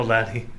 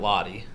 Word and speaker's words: laddie: Oh, Laddie. It's laddie, not lottie.